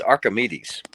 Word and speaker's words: Archimedes: Archimedes? It's Archimedes.